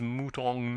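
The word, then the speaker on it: mouton: lady Crawley M added the butler Gravely pronounced if you please mutong NE and soup is po m al cores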